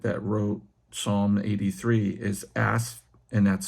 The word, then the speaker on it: Asaph: So the particular prophet that wrote Psalm 83 is Asaph, and that's spelled A-S-A-P-H.